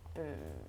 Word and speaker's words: Butte: It's spelled B-U-T-T-E. Her name is Booble Boo or Bubble Butt, if you want to spell it out.